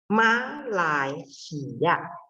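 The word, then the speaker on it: 马来西亚: Malaysia. Oke, ma-nya nada 3. Jadi pas baca Ma. itu turun. Bu. Malai, nyambung ke sampingnya itu karena lai 2, jadi langsung naik. Malai, si 1, ya 4 ya.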